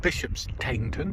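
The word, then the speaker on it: Bishopsteignton: stanton king stanton and bishops taynton so therefore it's pronounced cane in that instance and ends up in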